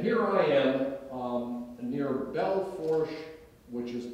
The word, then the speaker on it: Belle Fourche: um oh now here I am a near Belle Fourche which is pronounced by the locals Mel Fouche for some reason um North Dakota which says